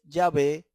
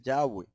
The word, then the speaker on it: Yahweh: Por eso nosotros y el nombre del Eterno, como ya el Señor nos dio la oportunidad de explicarnos, no es Yahvé, sino Yahweh. Y la pronunciación es Yahweh.